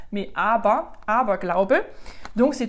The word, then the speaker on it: Aber: alors à bord comme met d'ailleurs qui se prononce pas à beurre mais abah abah klaauw peut donc c'est tout ce qui